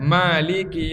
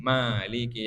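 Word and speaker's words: مالك: Masa Maliki dibaca pendek? Takutnya begitu. Jadi bukan salah makmumnya juga, karena makmumnya tidak tahu. Jelas ya? Oke. Wakilahuma sahihun mutawatirun. Dua-duanya ma panjang atau pendek itu sahih dan mutawatir.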